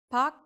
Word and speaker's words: 밖: In all of these instances, the sound reverts back to the softest sound.